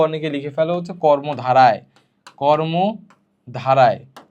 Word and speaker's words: কর্মধারয়: মাঝখানের দুইটা লিখতে তোমাদের কি সমস্যা হয়, তোমরা অনেকে লিখে ফেলো হচ্ছে কর্মধারায়, কর্মধারায়। তো এই কর্মধারায় শব্দটা ভুল, সঠিকটা হচ্ছে কর্মধারয়, ধারয়, ঠিক আছে। তাহলে কর্মধারায় না, কর্মধারয়।